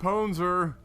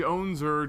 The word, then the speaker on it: PWNZOR: Up here at the top position of Antigua Shipyard, we're looking at the red Zerg Ponzer. Or the Onzer, depending on how you pronounce that. Some people go either way.